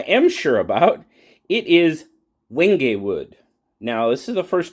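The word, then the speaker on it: wenge: It's w n g e. That's how you spell it. Triple pin. Now, the reason they said they used wingay wood was its ability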